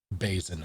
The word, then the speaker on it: basin: Tell me, Like raisin, exactly. basin, not basin.